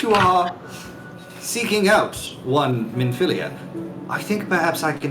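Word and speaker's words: Minfilia: A minphilia, Kevin.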